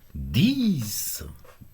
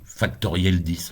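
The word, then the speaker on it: factorielle 10: Et ça se prononce 10. Non, factoriel 10, on dit. On dit pas 10.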